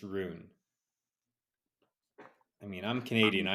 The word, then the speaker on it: Ruin: R it's it's unbelievable you say Rin or R it's got a real R you don't pronounce r u i n there's no ruin it's just Rune I mean I'm Canadian